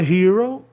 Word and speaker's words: hero: Herói, hero, né? Palavra de sílaba, paroxítona, vogal consoante outra vogal, o E com som de I.